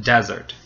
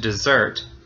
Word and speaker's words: desert: well it depends uh if you say desert you're talking about a dry you know place like the Sahara that then the first syllable is stressed desert but you can also say with the the final syllable being stressed desert and in that case we're talking about you know leaving your friends behind deserting them so it becomes a verb